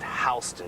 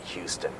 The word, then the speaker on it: Houston: of the Americas it's 6th Avenue and it's pronounced Houston Street not Houston when you get to New York you're gonna